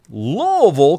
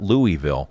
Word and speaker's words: Louisville: Louisville, Kentucky. And that's how you say it, by the way, folks. It's not Louisville.